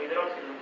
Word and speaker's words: hidroxilo: ¿Por qué la comparación es entre protón e hidroxilo? O hidróxilo. Esa es la pronunciación.